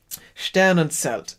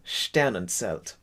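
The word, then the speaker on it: Sternenzelt: you know said um and what's the pronunciation someone pointed out stan and selt selt it's not as a it's a stan and celt like a ts uh important to get that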